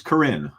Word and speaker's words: Corinne: Oh, it's Corinne. Corinne rhymes with Marin.